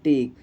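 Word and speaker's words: take: कुछ भी अगर दोस्तों लास्ट में ई आए तो उसका उच्चारण हमें नहीं करना है। जैसे में देखिए दोस्तों टेक, दोस्तों यहाँ पर लास्ट में ई आया है इसलिए दोस्तों ई का उच्चारण दोस्तों कुछ भी नहीं हुआ है।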